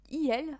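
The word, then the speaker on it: iel: pronouns in French basically they created a um eel for like um Z them you know e which is a a mixed of um e and l so she and her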